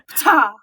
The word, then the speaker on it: Ptah: Ptah. Yeah. As far as I know, that is in fact correct how you say it.